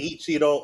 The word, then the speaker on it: Eiichiro: And apparently, um, I don't want to say his name wrong. Ichiro Oda, right? Ichiro Oda, is that right? Eiichiro Oda.